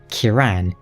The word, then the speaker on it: Kieran: He also pronounces Kieran's name Kiran and Manus as Manus.